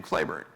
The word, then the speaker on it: Cleburne: and by the way his name is spelled exactly like the town of Cleburne Texas which is named after him but he pronounced his name Clayburn and General Patrick Cleburne was the best division